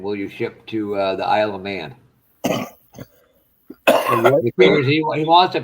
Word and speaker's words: Isle of Man: Isle of Man. Isle of Man, not France. Isle, as in a grocery store shopping aisle of Man. Except it's spelled with an I instead of an A.